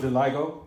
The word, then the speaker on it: vitiligo: They call it vitiligo?